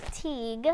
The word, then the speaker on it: Teague: is called a Mark Teague and how do we remember how to pronounce his name rhymes with League okay yeah that's good